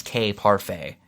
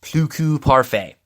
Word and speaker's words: Cuckoo Parfait: blue ku parfait yeah I heard the pronunciation a few time it's not Plus cave parfait I believe it's cuckoo parfait he was saving ground